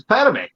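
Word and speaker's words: Padmé: It's Padme. All right. We'll do another what if on pronunciations.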